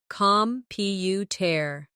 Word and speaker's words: computer: The stress is on the second syllable, computer. Now, photograph.